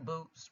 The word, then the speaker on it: Bout: Bout, pronounced Bout, one of the world's most prolific arms dealers.